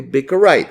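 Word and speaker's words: Bikkurai: It's Bikurai, I'm going to spell that for you, B-I-K-K-U-R-A-I, okay? Bikurai.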